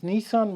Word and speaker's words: Nissin: it a shot now these are pronounced as nissan raw miso misos being the flavor